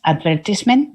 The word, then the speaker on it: advertisement: Advertisement, which in England, by the way, is advertisement. That is the way they pronounce it.